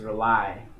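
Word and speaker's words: Relie: The first on the album mixtape is Rely, and it's spelled R-E-L-I-E.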